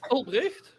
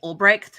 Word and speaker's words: Albrecht: Albrecht. Yeah, there you go. That's exactly it. I think over here they'll pronounce it like Ulbrecht.